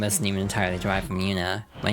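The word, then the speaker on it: Yoona: Yuna spelled Y O O N A but pronounced the Yuna.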